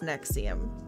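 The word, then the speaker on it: NXIVM: is what it's like and x i v m like the Roman numerals but it's pronounced Nexium Lord anyways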